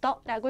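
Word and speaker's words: 的: 이건 띠라고 읽으시면 안 되고 경성으로 떠라고 읽어주시면 될것 같아요.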